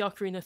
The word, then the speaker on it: ocarina: Yeah, the ocarina.